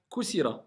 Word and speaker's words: كثيرة: كثيرة Kusira, voilà. Parce que au début c'était limite, tu disais Kusira. Non, Kusira. Kusira.